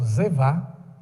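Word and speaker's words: זבח: É o Zevá, apesar de ser B, a pronúncia é V, mas não se preocupe com isso não.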